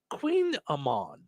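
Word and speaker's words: kouign-amann: my goog lady uh uh they say it's pronounced Queen Amon Queen Amon nobody eats it anyway so no no one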